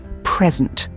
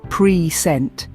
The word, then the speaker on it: present: When we stress the first syllable, pre-sent, it becomes a noun, as in a gift. But when we stress the second syllable, pre-sent, it turns into a verb meaning to introduce or show something.